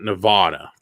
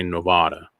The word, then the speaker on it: Nevada: are in reno nevada nevada not nevada god you have no idea how annoying that is to see in movies when they say nevada it's nevada that's how you say it properly and i trust me